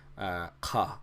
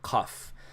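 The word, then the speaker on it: قاف: a very harsh letter for the most part you can pronounce it as a K but to pronounce it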